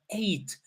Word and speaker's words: ate: And listen, by the way, so it's eat in the present, and in the past it becomes eight. It's like the number eight.